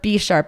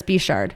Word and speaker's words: Bechard: I've always said Bechard or B-sharp. It's Bechard. Bechard.